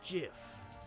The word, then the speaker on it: GIF: It's pronounced GIF. Huh? .GIF, like the peanut butter. The creator said so. That's dumb. It's a GIF.